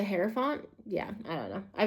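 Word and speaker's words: Hierophant: The pope or the herafant. I already I always say it wrong. It's the heropant.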